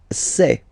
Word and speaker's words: sais: Je sais. Okay, final S not pronounced, and then you get this A-I, E.